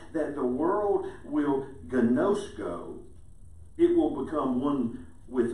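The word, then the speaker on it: γινώσκω: my disciples if you love one another is gnosko. And that's how it's pronounced in the Greek.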